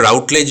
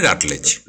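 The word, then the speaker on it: Routledge: সে রাটলেজ, RUTLEDG, ওকে, রাটলেজ, উচ্চারণটা রাউটলেজ নয়, রাটলেজ।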